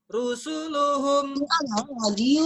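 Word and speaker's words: رُسُلُهُم: Pendek ya, jadi bacanya rusuluhum.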